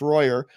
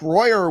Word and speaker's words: Royer: Mike Royer, sometimes pronounced Royer, but I think it's Royer.